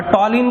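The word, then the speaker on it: ptyalin: और टॉलिन को हमें इसमें पी साइलेंट होता है। क्या होता है? पी साइलेंट होगा। टॉलिन में भी क्या साइलेंट होगा? पी।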